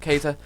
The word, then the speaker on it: Keita: That's just the way I looked at his name, and then I heard the commentator say Keita, so that's how his name's pronounced, Keita.